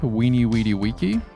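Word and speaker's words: veni, vidi, vici: Did you know that Vini Vidi Vici was actually pronounced Weenie Weedy Weeky?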